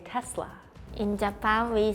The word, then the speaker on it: Tesla: Indonesia we say Tesla in Korea we say Tesa in Switzerland we say Tesla in Spain we